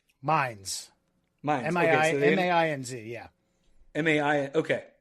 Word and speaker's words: Mainz: You said you were in a town called Mainz? Mainz. Okay, M-A-I-N-Z, yeah. M-A-I, okay. So not pronounced how a trashy American would.